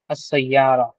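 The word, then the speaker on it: السيارة: देखिए हुफ शमसी के अलिफ लाम का अलिफ लाम के साथ जो है सयारा को जोड़ा गया है। सो it pronounce that as अस सयारा। Right? असारा क्यों क्योंकि सीन जो है वो उफुल शमसी का एक लेटर है।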